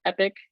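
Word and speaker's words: EPOC: and performance operation center pronounced epic which i realize is sounds like it should be an i but it isn't um and so this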